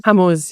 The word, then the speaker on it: Hormuz: close the Straits of, you'll know how to pronounce it probably better. Is it the Straits of Hormuz? I think it is. Hormuz, yeah.